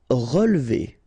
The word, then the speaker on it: relever: Relever, okay, so first re, then we don't insist on this here. So, relever, relever.